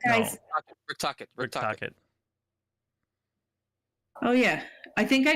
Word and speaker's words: Tocchet: Troche is the new coach. No. And it's like, guys. Rick Tocchet.